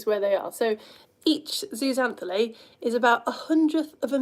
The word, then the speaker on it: Zooxanthellae: actually, and it's called, you ready for this pronunciation? Zooxanthellae, that's what I'm calling it. Other pronunciations are available.